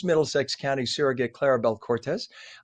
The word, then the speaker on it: Cortez: Uh or Cortis. Do you pronounce it Cortis or Cortez? I'm sorry. Cortez. Cortez. There we go. I have a friend spelling it the same way who says Cortis. That's why I want to check.